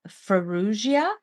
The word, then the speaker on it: Farrugia: and lifestyle Queen today my guest is Brenda feru did I pronounce that right you did you I did